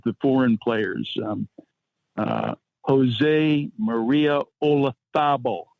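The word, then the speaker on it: Olazábal: Jose Maria Olazabal, not Olazabal, Olazabal.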